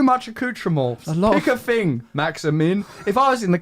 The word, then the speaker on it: Maximin: I mean, I've heard it pronounced Maximum, so you might have to change that slightly.